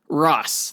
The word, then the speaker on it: Ra's: Ra's al Ghul but it's Ross like Ross and Rachel from friends right yes exactly now